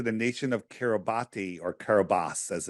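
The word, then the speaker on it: Kiribati: was registered to the nation of kabati or kobas as it's pronounced but it's spelled kabati and uh like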